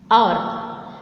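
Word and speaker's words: hour: Or, though it is starting with the H consonant, but the pronunciation is silent. H is silent.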